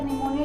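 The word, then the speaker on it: pneumonia: अगर हम निमोनिया को प्रोनाउंस करते हैं तो वो हमारा जो है पी, अगर हम यहाँ पे अगर प्रोनाउंस करेंगे तो निमोनिया जो है वो हमारा ना से शुरू होता है।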